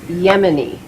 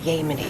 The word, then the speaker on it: Yemen: cooperation I'm to expect it's Yemen not yeny can you say that